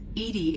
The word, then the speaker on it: EDI: why are you named Edie Edie is the phonetic pronunciation of EDI that is an acronym for enhanced defense intelligence what do you do